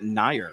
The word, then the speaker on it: Nair: That's Nair is the correct pronunciation.